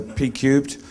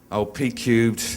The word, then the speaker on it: Pcubed: It's called Pcubed. No one in Asia can pronounce the name well, so Pcubed. It started as program planning professionals, which was too hard, so we said P to the power of 3, Pcubed, and you end up with the name.